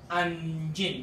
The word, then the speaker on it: anjing: Anjin. There are two syllables here.